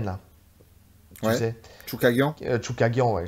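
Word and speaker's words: Chookagian: Tu sais, je pense à un combat contre Chucky Kagian, là. Tu Ouais. sais. Choukagian. Chukagian, ouais. Je rajoute toujours une syllabe à son nom.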